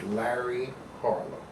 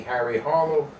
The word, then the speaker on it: Larry Harlow: It seems that the people in South America found it very difficult to pronounce the name Larry Harlow. The L's kind of disappeared somewhere. So they would call me Harry Harlow, Carlo Harlow, Barry Farlow, Shmuel O'Darlow.